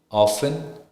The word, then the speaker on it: often: now with the T the letter T is not pronounced in the following common English words like Castle Christmas fasten listen often then it when it